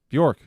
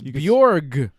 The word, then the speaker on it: Bjorg: Bjork. Bjork? I can say it like that. You can with the G. It's Bjorg.